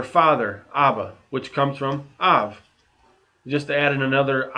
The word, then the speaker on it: אב: we put these two words together we got av i didn't say ab in bait in the script if there's a